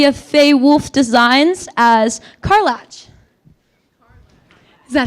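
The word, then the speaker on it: Karlach: We have Faye Wolf Designs as Carlatch. Is that how I'll have you say that name for us. Huh? How do you say the name? Carlac from Baldur's Gate.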